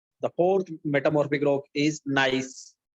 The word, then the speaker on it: gneiss: The fourth metamorphic rock is gneiss. It is gneiss. G is silent.